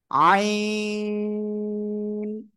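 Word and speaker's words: عين: আইন। চার আলিফ টান হবে।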